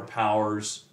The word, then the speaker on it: powers: plays around with it Powers is actually two syllables and he he kind of like is like well if you read it fast enough it's just one syllable right and so getting